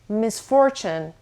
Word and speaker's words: misfortune: It can have 2 different pronunciations. First of all, the stress is on the second syllable, so misfortune. Second of all, it can either be pronounced as misfortune or misfortune. So, look, misfortune or misfortune.